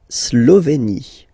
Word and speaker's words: Slovénie: Remember, you get this E accent aigu here, it's E. Slovénie. Final E, as usual, not pronounced. La Slovénie. Okay? La Hongrie. So remember, H doesn't exist, so you don't pronounce it. So it starts with O-N, on, and then gris, final E, not pronounced.